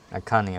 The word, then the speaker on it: Akane: Akane, okay, that's how you say it.